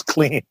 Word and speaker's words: Klein: we found out that klein's original pronunciation was clean mr clean yeah oh my